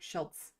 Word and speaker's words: Schultz: Well, it's spelled Schultz, but there's a T sound in there. Okay, I'll try. You know, I will try to get your name right, Schultz, 41.